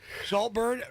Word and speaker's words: Saltburn: Saltburn rhymes with heartburn.